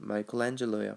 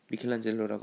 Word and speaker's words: Michelangelo: 자, 미켈란젤로의 영어 발음은 마이클란젤로예요. 발음이 완전 다르지? 미켈란젤로라고 하면 미국 사람 절대 못 알아먹습니다.